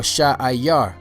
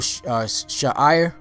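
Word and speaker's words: שעיר: All right, the next name that you should know is Seir or Sha'ayar. Sha'ayar. You know, there's sometimes it's spelled Sha'ir, but in most places I saw it spelled Sha'ayar. Sha'ayar. You know, so whether you say Sha'ir or Sha'ayar, the word Sha'ayar means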